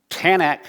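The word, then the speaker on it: Tanakh: Bible is the tanak tanak is actually three different syllables T stands for Torah uh n stands for Naim I forget exactly what it is and C the CH sound stands for something else but anyway we'll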